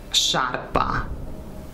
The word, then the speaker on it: sciarpa: Via, scena, scelta, ascensore, sciarpa, scivolo, uscita.